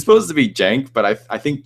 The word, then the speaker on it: Cenk: It's supposed to be Jank, but I think Chank is so much funnier because it's not how it's supposed to be pronounced, and it's insulting.